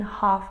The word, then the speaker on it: half: Keep calm and have the salmon ready in half an hour?